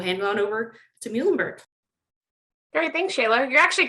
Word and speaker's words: Muhlenberg: So it's Muhlenberg. Easy way to remember that is our mascot is a mule, the animal.